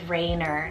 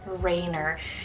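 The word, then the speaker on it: Rayner: er ending name on the boy side is Raynor spell r-a-y-n-e-r Raynor you do the nickname rain for this one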